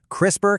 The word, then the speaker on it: CRISPR: Crisper cast 9. It's a gene editing tool that's frankly mind-blowing. And right off the bat, it's pronounced crisper.